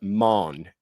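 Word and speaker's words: Mane: I'm going to pronounce it man, and it's spelled M A N E.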